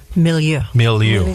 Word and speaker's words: milieu: Long Island Press, and the women's lifestyle magazine, Milieu. Am I pronouncing that right? Milieu.